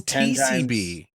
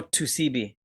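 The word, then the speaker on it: 2C-B: That is TCB. No, Tusibi. Like, 2CB.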